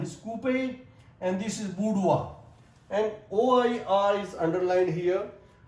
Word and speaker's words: boudoir: And this sound is coupe, and this is boudoir. And OIR is underlined here. OIR. So sometimes this OI is pronounced as wa, like reservoir, repertoire, abattoir, and this is boudoir.